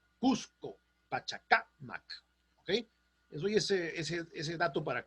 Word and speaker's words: Pachacamac: pachacamac se dice en pachacamac a no se dice pachacamac están mal acuérdense que los vocablos quechuas no admiten las las voces agudas entonces no es pachacamac